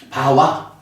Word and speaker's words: bhava: 바와. 부라고 하는 근에 연결사인 아가 붙어서 그 발음이 바와 이렇게 된 건데 이때 그럼 아라는 것은 뭐 별로 의미가 없죠.